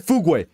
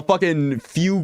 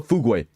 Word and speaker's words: Fugu: did I say chat it is the correct pronunciation her name is Fugu chat not fug not whatever the hell way you guys pronounce it Fugu she's literally the